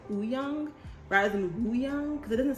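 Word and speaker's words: Wooyoung: the w he goes oo young ooh young it's almost like the w is silent you know what i'm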